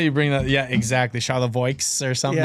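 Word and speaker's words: Charlevoix: It's It's near like Charavoy, like Paskki, Traverse City area. That is a moment. Just saying Charavoy like it's easy. As if it's not spelled like Charlie View or something.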